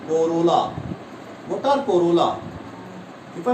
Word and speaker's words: corolla: What is pronunciation? Corolla.